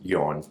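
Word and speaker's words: Jon: no disrespect to yon i think his name is pronounced yawn okay it's like swedish or whatever um he was like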